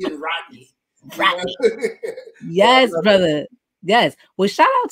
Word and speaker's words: Rodney: I love being with Black people because Black people pronounce that T in Rodney. You know, that's like Rodney. You know, that's how I know where I'm at when I hear that T in Rodney. Rodney. Yes, brother.